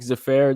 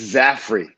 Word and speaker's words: Zaffere: also the five region sports network mr frank zafare did i say that right it's zafri zafri did you get yeah there you go